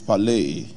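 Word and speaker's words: πάλη: from the Greek Lexicon the pronunciation of that word is palay it means wrestling such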